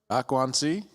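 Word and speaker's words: 关系: Guanxi?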